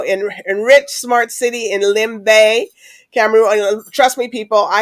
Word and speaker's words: Limbe: enrich Smart City in Lim Bay camon trust me people I had it's spelled l i MBE but you have to get used to the you be calling Austin but it's Lim Bay so we'll we'll get